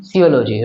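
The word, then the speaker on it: physiology: ओ जी वाई पी एच वाई ये silent silent letter है। है ना? इसलिए हम लोग इसे हम पढ़ते हैं सियोलॉजी।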